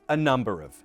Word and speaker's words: a number of: A number of. Schwa here, and here. And the stress is on Nu.